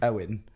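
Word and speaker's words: Eoin: working with us and his name is Owen but it's spelled like in the Irish way what's the artery that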